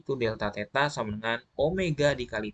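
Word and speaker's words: ω: delta theta sama dengan omega dikali T. Jadi yang seperti W ini dibacanya omega.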